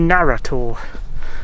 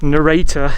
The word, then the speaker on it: Narra Tor: where that cross was, that's actually Narra tour, or narrator if you pronounce it as the word it spells.